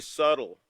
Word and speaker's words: subtle: should be subtle but the B is so subtle you don't even know it's there right well I don't